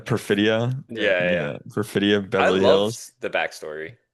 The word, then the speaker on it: Perfidia: Um yeah, Perfida. Perfidia.